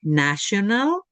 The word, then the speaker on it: national: Después viene la palabra national. National, una pista. La en inglés suena como la nuestra. Nation. Nation. Ahí es como una ch.